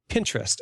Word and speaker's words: Pinterest: and it's apparently pronounced Pinterest as in Pinterest like I am a pinteresting person so uh I brought